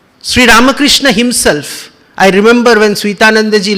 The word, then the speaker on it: Ramakrishna: itself is difficult because the spanish rule says when r comes in the beginning of a word then you have to give array emphasis so how comes ramakrishna